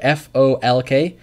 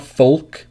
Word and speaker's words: folk: Rocio wrote folk yes folk f o lk is not Foulke its folk music folk for example folk